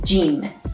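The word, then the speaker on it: ج: make is means recur the sixth letter is jin which is sounds g like jeep in english and its initial or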